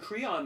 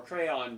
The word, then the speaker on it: Creon: oh you and uh Tyrese as you and Creon must be or crayon depending on how you pronounce it you must be against me conspiring